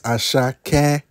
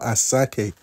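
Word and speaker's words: Asake: but I'm friends with aaki you know all right for the ones that really listen to afro beats I know I know chill relax I didn't pronounce his name well it's asak not aake my dog one time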